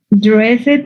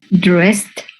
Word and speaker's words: dressed: So you don't pronounce the E, and this is pronounced like T. So you have to pronounce, use symbols. Dressed.